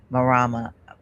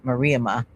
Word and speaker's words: Mariama: You'll see kind of like on our Instagram, these two, Dwight and Marama. I'm pronouncing it wrong. It's Mariama S.